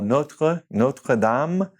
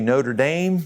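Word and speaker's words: Notre-Dame: So you've probably seen the first one, I know, if you watch college football, Notre Dame. We like to say Notre Dame, but in French it's Notre Dame.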